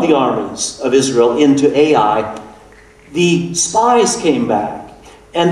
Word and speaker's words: Ai: That's spelled A-I.